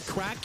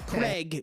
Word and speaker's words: Craic: You can also call me um Craig because Americans potentially can't pronounce crack.